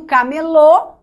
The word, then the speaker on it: camelô: É por essa razão que o camelô tem acento. Porque camelô é oxítona, que terminou em O.